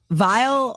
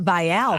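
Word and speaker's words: Viall: This show's called the Vile Files cuz it rhymes. It's not Vial Files.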